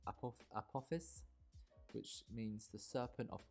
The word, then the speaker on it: Apophis: So the name of this coaster, I did a bit of research on Google or Wikipedia, and I think it's pronounced Apophis, which means the serpent of chaos.